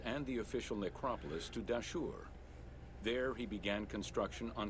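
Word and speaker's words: Dahshur: And I think it's pronounced Dashur. Welcome to the Bent Pyramid of Dashur.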